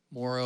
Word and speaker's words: Morrow: How do you say tomorrow? Oh. That's how I tell people. However you say tomorrow is how I would say my last name, but Morrow.